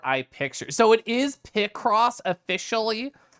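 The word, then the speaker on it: Picross: over God so easy to get lost in pie cross positive H so you looked it up and Pie cross is pronounced like a a short eye picture so it is p cross officially H I have to put my pies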